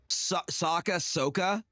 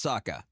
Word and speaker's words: Sokka: It was like somebody's trying to get me to say, how are they were pronouncing Soka? And I'm like, no, it's Sokka.